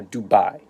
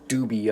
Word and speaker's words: dubia: anew set up and just as a little pronunciation it's called Dubya no Dubai it's d ub i a not d ub